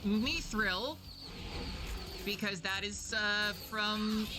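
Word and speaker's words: mithril: And no, it's not pronounced mythril. uh for the love of I don't even know what uh it's me thrill because that is uh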